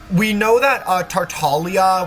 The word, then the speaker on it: Tartaglia: From the sounds of it, well, from the facts, we know that Tartaglia, which is how you pronounce his name, La Senora, rest in peace,